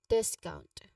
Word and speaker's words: discount: The pronunciation is there is there you can often blend together in speech, but discount has a stress on the first syllable. This a short e sound like in bet. So discount.